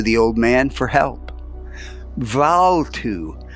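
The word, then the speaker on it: Bvalltu: old man for help valtu for such approximately was the Philosopher's name the two being pronounced more or less as in Welsh Val to affected a cure by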